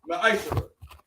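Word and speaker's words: מַעֲשֵׂר: It means tenth in Hebrew, and it's pronounced Ma'ashara.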